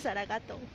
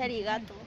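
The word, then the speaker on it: ありがとう: Ese es en japonés y no se dice saragato. Entonces se dice arigato.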